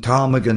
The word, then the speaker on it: ptarmigan: Example, the P in ptarmigan is silent.